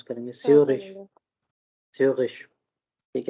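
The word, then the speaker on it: Zürich: अब इसको इसका एक्चुअल प्रोनाउंसिएशन जो है वो स्यूरिश है, स्यूरिश, खा नहीं है, ठीक है, क्योंकि हमने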